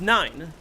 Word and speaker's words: IX: Even that, I would say, isn't necessarily true, because it's spelled a lot differently than it's pronounced. It's spelled Ix, but it's pronounced 9.